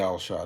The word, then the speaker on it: Al Achad: know what I'm saying, don't know how to pronounce that. Just say Al Achad, it's cool.